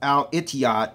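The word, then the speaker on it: الاتحاد: here and each out is actually pronounced al-itiyad in the Arabic language okay and then you're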